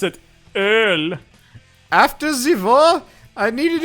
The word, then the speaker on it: Öl: Or as we pronounce it, Öl.